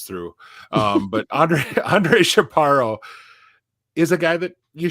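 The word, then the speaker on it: Chaparro: those wonderful things you get Robbie and I pronouncing and our our northern northern white guy comes through um but Andre Andre chaparo is a guy that you should maybe know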